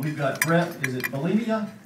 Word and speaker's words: Bielema: We've got Brett, is it Bielema? How do you pronounce that? Bielema.